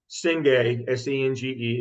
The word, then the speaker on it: Senge: Senge, S-E-N-G-E, is actually pronounced Senge.